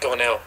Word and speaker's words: Gornall: introduce the world to goral is that am I pronouncing it correct gornal G gornell gornell perfect got it gell yeah wait is it an A or an e at the end of your name an a yeah an A but it's